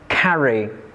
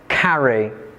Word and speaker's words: carry: For example, we have the words carry, carry, mention, mention. These two words are verbs but the stress is placed on the first syllables in two syllable words.